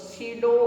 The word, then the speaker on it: pseudo: Pseudo. Clear? Here P is silent.